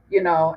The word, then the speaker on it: Detroit: be, because like Detroit, Detroit is actually French, it is pronounced Detroit, and it was founded